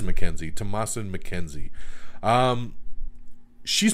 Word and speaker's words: McKenzie: in this movie tom tomasin mckenzie or mckenna i'm trying to remember how to even pronounce her name mackenzie it is mackenzie tomas and mackenzie um